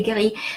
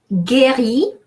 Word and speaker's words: guéri: Guéri, notice how we have U between G and E. If I didn't have U between G and E, I would pronounce G.